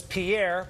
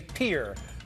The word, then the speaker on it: Pierre: Governor Noem, we thank you so much from the capital of South Dakota, which I used to say was Pierre, but I think you say Pierre.